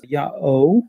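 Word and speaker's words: Ιαω: angelized version of it but the old Greek pronunciation was yaho and the native Egyptian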